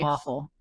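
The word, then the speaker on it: offal: D organ Meats um those are they call awful huh I don't know why they call organ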